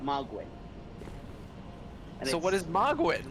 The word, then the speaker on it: Mohgwyn: This is Mogwyn.